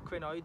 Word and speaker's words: crinoid: We're going to start by showing a fossil crinoid, or crinoid, depending how you pronounce it, fossil that we